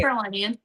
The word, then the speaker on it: North Carolinian: I'm assuming, but I don't want to say North Carolinian.